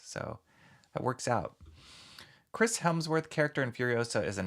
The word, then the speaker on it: Hemsworth: It's Chris Hemsworth, not Helmsworth.